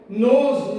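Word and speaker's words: knows: नोज, नोज के माने भी होते हैं जानना, के साइलेंट है, और यहाँ पे NOSE, नोज के माने होते हैं नाक।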